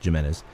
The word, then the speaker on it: Gimenez: Gimenez he grew up here and it is pronounced Jimenez by the way it's with a G I know it looks like Jimenez but it's it's Jimenez and he grew up here in Gilroy he